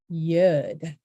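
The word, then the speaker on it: יוּד: And yud. Yud, a Y sound, as in pay, yeah, yud.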